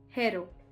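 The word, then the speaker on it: héros: So when the ash is aspirated which means when it is pronounced it is treated like a consonant. For example, le hero.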